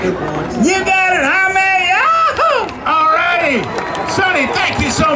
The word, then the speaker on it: Jaime: My name's Jaime, sir. Jaime? Jaime. How you spell it?